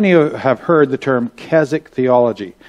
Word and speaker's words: Keswick: how many of you have heard the term Keswick theology? It's spelled K-E-S-W-I-C-K.